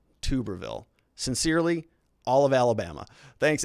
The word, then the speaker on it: Tuberville: much about pronunciation here but tuberville senator tuberville not tuberville although i kind of like tuberville better thanks avalon we have